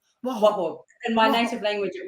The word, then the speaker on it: Waho: Waho. Yeah, you did pretty good. Thank you. Good. Will you pronounce it for everybody? My first name is, and my surname is Waho. Waho.